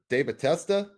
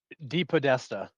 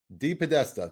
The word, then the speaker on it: DePodesta: Paul de Tab Deatesta. Is that how you say it? Deep Podesta. Deep Podesta. That's exactly what I said.